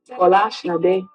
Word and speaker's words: Bola Sade: true Nigerian name, or the true Nigerian pronunciation, as close as I can get to it, is Bola Sade, which means crown in glory, and it was abbreviated.